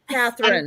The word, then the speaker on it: Katherine: block on what to how to pronounce her first name Catherine it happens every single fre Catherine there's no l there's no l in her name yeah okay just like